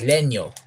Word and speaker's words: Legno: Leno Le uh legno it's actually legno the spelling is legno but since he's Italian I pronounce it as Leno so uh Simon Leno